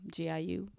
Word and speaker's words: Giulia: Julia is spelled with a G, Giulia.